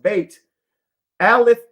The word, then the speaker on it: Bethlehem: word Bethlehem in Hebrew the city's name is pronounced bate alith bate family Ali is the